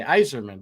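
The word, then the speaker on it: Yzerman: I say his name is it Eiserman like noer yeah that's what I say Eiserman but sometimes I go wiser no no you're saying it right they're saying eer you have a Steve Eiserman disability it's okay we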